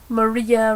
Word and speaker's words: Maria: Maria rhymes with Malia of Yarn Raising.